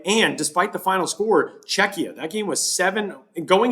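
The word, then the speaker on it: Czechia: And it is, by the way, Czecha, uh, in case you have heard it pronounced other ways, it is Czecha, not Cchia. Czecha, uh, which is the name that the Czech Republic now goes by for international sports.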